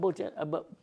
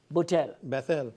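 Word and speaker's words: Bethell: Jacob Butel. Bethl. Beel. Sorry for mispronouncing.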